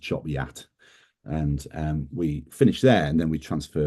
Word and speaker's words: Chop Gate: 1257 which is um at uh it's called Chop Gate and but it's pronounced Choppy Yat and um we finish there and then we transfer down to Gisborough.